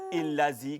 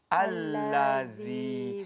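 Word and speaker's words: الذي: Rupa-rupanya bukannya illazi ke apa, tapi Al-Lazi.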